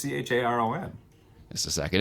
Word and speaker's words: Charon: I think I pronounced that Chiron, but I could be wrong. There's also no I in it though. It's Charon.